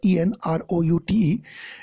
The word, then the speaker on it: en route: ऑन रूट, नोटिस this word ENROUTE, इट इज pronounced as en route.